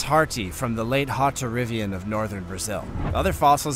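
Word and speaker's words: Hauterivian: Let me correct you in that pronunciation. Haubitarian.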